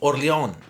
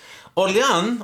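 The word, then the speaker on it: Orléans: about the Cathedral of oron oron or oron how I think the S is not pronounced as a friend of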